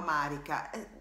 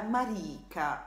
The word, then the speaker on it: Marika: speciali, la Marika Pellegrinelli, perché non si chiama Marika, non solo c'ha un nome che, insomma, abbastanza particolare, ma l'accento è sulla I, la Marika, ecco.